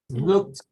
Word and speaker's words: looked: Looked. Looked. Looked. Looks. Looked. Right? Should looked. Looked. T pronunciation.